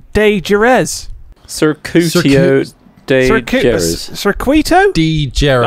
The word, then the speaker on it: Circuito: Circuitio de Jerez. Circuitio de Jerez. Circuito? De Jerez. Actually, I was saying it wrong. Circuito.